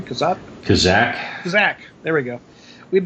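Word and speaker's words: Kazzak: How do you pronounce his name? Kazak.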